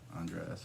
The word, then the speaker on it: Andreas: right in um well i'm andreas by the way andres or however you want to pronounce it i don't care i'm not really pushy on like the accuracy of my name and i don't really get offended unless you call me andrea i guess but whatever